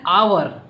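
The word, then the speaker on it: hour: जैसे एन आवर क्योंकि जो आवर का साउंड है ये वोवेल से स्टार्ट हो रहा है।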